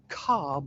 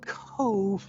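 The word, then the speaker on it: Cobh: it would be pronounced cobb like corn in the cub but it's actually cove like a marina so if you read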